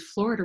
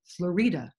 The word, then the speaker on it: Florida: her daughter and I mistakenly said this was Florida Ruff and Ridley but I found out that she pronounced it FL Ruff and Ridley anyway she was her daughter